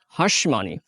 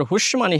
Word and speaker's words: hush money: office দুই নম্বর আছে হাঁসমানি এই হাঁসমানি টাকে অনেকেই কিন্তু আবার হুশমানি হিসেবে উচ্চারণ করে আমাদের প্রোনাউন্সিয়েশনের সময় এটা